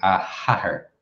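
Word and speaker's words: a hathair: about saying her father, we would say a hatter. That H there is telling the listener that you're talking about a woman's father.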